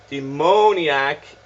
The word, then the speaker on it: demoniac: It says demoniac is the correct pronunciation, or that may be daimoniac, but it looks like a D-I in the chat. So there we go, demoniac.